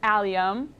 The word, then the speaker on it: allium: then the last category I always say it wrong but I believe it's a liam is that right perfect thank you okay